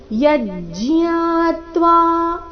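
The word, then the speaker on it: ಯಜ್ಞಾತ್ವಾ: ಹೇಳ್ತಾ ಇದ್ರೆ ಈ ಶಬ್ದವನ್ನ ಯಜ್ಞಾತ್ವ ಈ ರೀತಿ ಹೇಳಬೇಕು ನೀವು ಜ್ಞ ಅಂತ ಹೇಳ್ತಾ ಇದ್ರೆ ಯಜ್ಞಾತ್ವ ಯಜ್ಞಾತ್ವ ಈ ರೀತಿ ಹೇಳಬೇಕು ನೇಹ ಭೂಯೋನ್ಯ ಜ್ಞಾತವ್ಯ ಅಥವಾ ಜ್ಞಾತವ್ಯ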